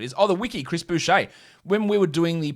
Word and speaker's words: Boucher: was saying about hey how come his name's boucher when the old south african player cricket player was named mark boucher spelled the same and obviously boucher because he's yeah french canadian i went oh there's